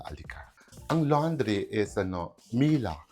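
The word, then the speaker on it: Miele: Ang laundry is ano Mila. They pronounce it Mila eh. Mila is a German brand.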